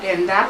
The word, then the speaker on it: Yerendá: Algún paraguayo me puede pronunciar bien, porque no es Yerendá, es Irendá, pero la he dicho de un modo...